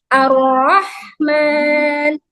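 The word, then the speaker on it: ٱلرَّحْمَٰن: Kemudian arrahman. Nah, dibaca dengan menebalkan huruf ro. Ro. Ro itu tafhim ya. Rnya ditalkan, dibaca tidak dengan misalnya kesalahannya apa? Tidak menebalkan huruf ra.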